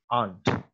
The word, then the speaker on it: aren't: And let me tell you one thing, that the pronunciation of are not's short form aren't, इसकी जो short form है aren't है, इसको पढ़ा aren't जाएगा, यानी कि r को जो है आपने shortly pronounce करना है। aren't इसको नहीं पढ़ना, ठीक